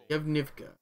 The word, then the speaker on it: Yevnivka: Yevnivka. I'm gonna say it. That's how it's pronounced.